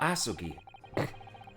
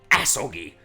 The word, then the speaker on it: Asogi: Kazuma Asugi. Okay, don't say it like that. Asogi!